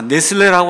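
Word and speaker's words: Nestle: 본문에서 이제 나왔어요 자 네슬레라고 한 사람이 이제 많이 나오는데 우리나라 말로는 레슬리라고 얘기도 하고 영어로는 이제 네슬레 이렇게 이제 발음을 하기도 하는데이 사람이 이제 1800 98년에이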